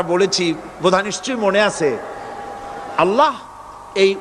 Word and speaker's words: আল্লাহ: আমি অনেকবার আপনাদেরকে এই কথাটা বলেছি বোধয় নিশ্চয়ই মনে আছে আল্লাহ এই উচ্চারণটা আমাদের অনেকের হয় না কেউ বলে না